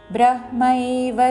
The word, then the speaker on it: బ్రహ్మైవ: బ్రహ్మైవ తేన గంతవ్యం బ్రహ్మై, ఇక్కడ హాకి మావత్తు ఐత్వముతో. బ్రహ్మైవ తేన గంతవ్యం గా మీద ఆఘాత, పక్కన నాకి తావత్తులోని తా మీద నొక్కి పలుకుతూ గంతవ్యం. బ్రహ్మైవ తేన గంతవ్యం బ్రహ్మకర్మ సమాధినా.